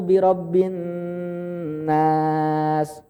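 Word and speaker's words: بِرَبِّ النَّاسِ: Qul a'udzu birabbin nas. Itu nunnya bertasydid. Jadi kurang tepat kalau baca Qul a'udzu birabbin nas, malikin nas, ilahin nas. Nunnya bertasydid, ditahan lama. Qul a'udzu birabbin nas, malikin nas, ilahin nas.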